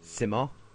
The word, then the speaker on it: Simo: And what I got from his description was Simo, as in Samoa, but without the A. Well, phonetically, Simoa without the A. I know it's not spelled like that. But yeah, no, apparently that's Simo.